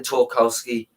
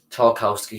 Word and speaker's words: Tarkowski: from the english defender tolkowsky tarkowski sorry i pronounced it wrong it's talker no it's tarkowski yeah it's tarkowski um quickly i just